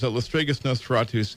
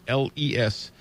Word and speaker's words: Lestregus Nosferatus: But the band is Lestregus Nosferatus, Lestregus.